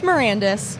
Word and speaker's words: Marandes: Okay, so it's Marandes.